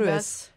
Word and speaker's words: Paribas: On prononce le S. Paris-Basse.